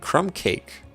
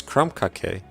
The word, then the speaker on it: Crumbake: I've been pronouncing it crumb cake, but it's crumbake.